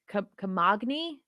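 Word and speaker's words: Camagni: by uh jacopo kamani comogni i'm gonna get the g is silent oh okay i don't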